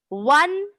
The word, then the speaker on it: one: Now the next is we went for ride in वन horse बगी. अब देखो बच्चों यहाँ ओ है, लेकिन ओ को हम व पढ़ रहे हैं.